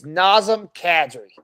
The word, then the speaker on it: Nazem Kadri: or so so so I saw the correct pronunciation. It's Nazam Cadri. Nazim is a and and nauseum and the a and kadri or kadri is like a a like cat nazim kadri or na and cat not cat.